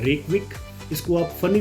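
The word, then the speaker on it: Reykjavík: इसके middle of the spellings में जे आता है जो कि साइलेंट है, इस चीज़ का आप ध्यान रखना।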